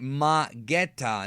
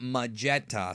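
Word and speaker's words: Magetta: man that Vegeta fought it's actually Metta not maetta so I screwed up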